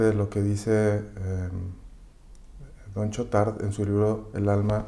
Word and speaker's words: Chautard: Te voy a citar justamente lo que dice Juan Bautista Chotard, o Don Chotard, se escribe Chautard, en su libro El alma de todo apostolado.